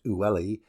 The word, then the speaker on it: Uli: Seda is supplied with water from the river Uli, pronounced Ulli, a portion of which